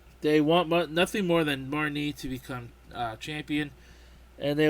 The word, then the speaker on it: Marnie: objectives as well we have barmy as they pronounce her name Marnie Marnie Marnie is one of your rivals who